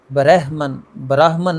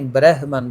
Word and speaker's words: برہمن: تلفظ قابل غور ہے۔ برہمن کی رے پر زبر ہے، اور یہ رے کی زبر مجہول ہے۔ براہمن نہیں، برہمن، زبر مجہول ہے اس کی۔ آگے لفظ ہے طلسم،